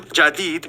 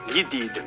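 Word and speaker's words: جديد: Apparently, most of them pronounce their J's like Y's, so the word for new, jadid, would be pronounced yidid.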